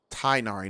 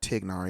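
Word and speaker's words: Tighnari: Tainari, not Tignari.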